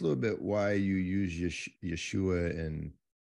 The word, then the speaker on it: Yeshua: We have that sh sound that's lovely, so we can say Yeshua. The Greek didn't have that, so Jesus was about as good as they could do for Yeshua.